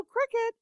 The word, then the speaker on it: Cricut: So Cricut, chirp, chirp. Cricut, but Cricut. It's spelled Cricut, but Cricut.